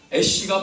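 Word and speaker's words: אֵשׁ: 근데 알렙은이 자음인데 자음 자체 소리가 안 나는 자음이에서 그냥 이건 에라고 불러요. 그리고이 두 번째이 W처럼 생긴 것은 히브리어 2번째라는 단어예요. 신쉬라는 말 발음이 되는데 그러면 에쉬 애쉬가 바로이 두 단어와 합쳐서 애쉬 불이라는 뜻입니다.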